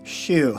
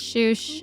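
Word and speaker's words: Schuch: So yeah, I know it looks like Scutch, Shoosh, Scooch, all Schmersh.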